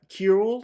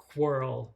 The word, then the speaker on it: Querl: So in my head, it's Querl, like the back half of squirrel.